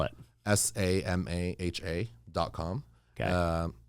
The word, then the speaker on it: Samaha: dot com spell it s-a-m-a-h-a dot com okay um kind of like yamaha but with an s samaha exactly uh and that's